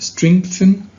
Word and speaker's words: strengthen: that people face, and strengthen their sense of social responsibility and compassion. By the way, we pronounce this word as if there was a K letter after the G right here.